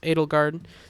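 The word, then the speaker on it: Edelgard: That name is pronounced Adelgard, so I was going for an Adelgard type pronunciation.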